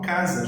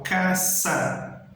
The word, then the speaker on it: casa: Letra S, ela vai ter sempre esse som um pouco mais forte, ó. S. Então, a palavra casa em espanhol se escreve igual, só muda um pouco o som. Eu não falo casa, já que a letra é C. Eu falo casa, sítio, ok?